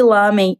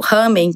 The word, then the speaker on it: ramen: Nos últimos anos, começaram a surgir várias casas de lamen, ou ramen, conforme a pronúncia japonesa.